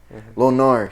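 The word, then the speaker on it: Lo Gnar: how to say it it's like low g-n-a-r is it right yeah the g confuses me lonnar he did that [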